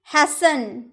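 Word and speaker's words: hasten: हैसन, हैसन यानी कि जल्दी करना। तो जब भी आपके सेंटेंस में आपको टी ई एन एक साथ देखने को मिला ना तो उसमें आप टी का उच्चारण नहीं कीजिएगा।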